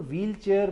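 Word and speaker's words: wheelchair: वो जो अंग्रेजी में एच है डब्लू के साथ वो साइलेंट है। जब अंग्रेजी में साइलेंट है तो आप उर्दू में क्यों लिखते हैं?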